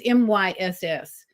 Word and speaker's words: Myss: I'm not sure how to pronounce her last name. It's Myss.